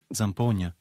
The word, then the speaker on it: Zampogna: or intriguing so let's dive into today's word zampona which means a type of Italian bagpipe let's